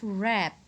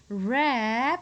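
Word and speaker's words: wrap: Next, we have rap. Rap, literally, we have W-R-A-P. But phonetically, we have R sound, A sound, and P sound. So phonetically, it has no cluster.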